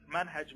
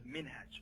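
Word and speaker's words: منهج: Manhaj means your methodology. It is pronounced manhaj as well as minhaj. Both pronunciations are acceptable.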